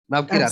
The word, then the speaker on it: Navkirat: Navkirat madam. I think I pronounced your name correctly. Navkirat. Absolutely. Yeah.